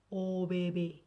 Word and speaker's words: ABB: Kalau di Swedianya dibacanya OBB.